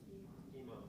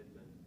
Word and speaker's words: Emond: I get 90% of the time it's Edmund. People keep wanting to put a D in there, and it's like, Yeah, my name's crazy.